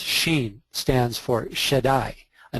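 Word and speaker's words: ש: Wicks the lower quary a letter in the Hebrew alphabet pronounced Sheen stands for shedai a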